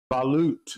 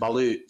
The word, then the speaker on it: balut: Um, how do you spell it? B A L U T. B L U T, I think. Balute. Balute. Sorry. I said I was saying bullet.